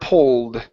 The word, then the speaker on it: pulled: to uh the word pulled right here instead of poo ped open up your mouth pull pulled p p good Dad pulled